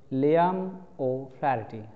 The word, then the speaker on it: Liam O'Flaherty: और इसके राइटर हैं, राइटर का ये प्रोनंसिएशन बहुत ध्यान से देख लो, बहुत अच्छी तरह से सुन लो स्पेलिंग देखते हुए, लियाम ओ फ्लैरिटी, लियाम ओ फ्लैरिटी, लियाम ओ फ्लैरिटी, लियाम ओ फ्लैरिटी।